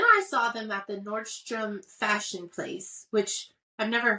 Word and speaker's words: Nordstrom: Whitney props on this she actually said Nordstrom most people say Nordstroms proud of Whitney for saying it correctly um so anyway she